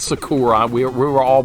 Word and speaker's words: Sakura: with you playing Sakura without a doubt it's Sakura we were all mispronouncing her name all right can I beat